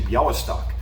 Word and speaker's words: Białystok: Because when you say Bialy, I think of the Polish city Białystok. It's the L with the slash through it, which means that it's pronounced like a W.